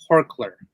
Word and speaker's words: Horkler: It's Horkler. I believe that's the right way he would like it to be pronounced.